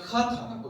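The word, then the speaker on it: חטא: 읽어보면 크아타라고 읽는데요.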